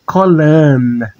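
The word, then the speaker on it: כולן: E no feminino é colan. Colan, com som de N.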